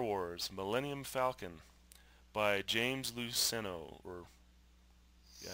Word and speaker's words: Luceno: Millennium Falcon by James luceno or yeah I think that's how you pronounce it l u CE n o um couple interesting things